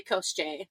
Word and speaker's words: Kosechi: by the pronunciation, but we say Kosechi, but it's actually Kosche. No, Kosechi just seems more death god-y. Yeah. Somehow. Yeah, somehow. Kosechi. Like, you usually think of, I guess for me, I think of, like, gods, like, having longer names. So, yeah. Kosechi, 3 syllables versus Kosche. So, that's how it's actually pronounced, but, so, apologies.